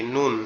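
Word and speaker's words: ن: এরপরে যেটা সেটা হচ্ছে কি নুন, এরপরে যেটা সেটা হচ্ছে কি নুন।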